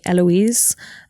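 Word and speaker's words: Héloïse: I think, my parents named me Eloise, but they gave me a silent H at the start and accents on the, it's the French spelling for Eloise.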